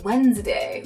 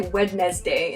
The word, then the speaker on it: Wednesday: We don't say Wednesday in our speech, but we need to spell Wednesday correctly in our writing.